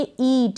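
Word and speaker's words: eat: Next है ई ए टी, ईट, इसको पढ़ेंगे इट नहीं पढ़ेंगे ईट, यानी लंबा उच्चारण होगा यहाँ पर।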